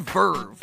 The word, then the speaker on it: VRV: It's called Verve, and it's spelled VRV, which is kind of stupid, but hey, naming stuff is hard, and it's a free app.